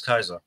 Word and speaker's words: Caesar: what what do you know about guys Julius Kaiser almost everything and I like history from fantastic okay I am not a scholar I am not a historian what Kaiser dead in Gold when you say Kaiser you mean Caesar yeah yeah because it's the